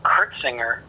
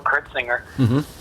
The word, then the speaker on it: Curtsinger: One of the guys that inspired me the most was a guy named Bill Kurtzinger. His last name is spelled Curtsinger, Bill Kurtzinger.